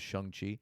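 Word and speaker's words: Shang-Chi: of the movie um shangi and the shangi I I I'm pretty sure the pronunciation is shuni thank you um but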